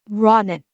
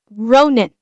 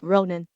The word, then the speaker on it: Ronin: are killing me it's not pronounced Roden yeah it's pronounced Ronin it's a a a could be yeah it